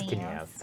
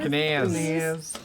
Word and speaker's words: Kenaz: No, it's Kenaz. Kenaz. It's not Canaz.